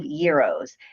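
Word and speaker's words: gyro: But I love Greek food and I and I love euros. So it's euro. It's not gro, it's euro, right? That's the correct pronunciation.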